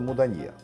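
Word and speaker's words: Moudania: Местно её называют просто муданье с ударением на последний слог.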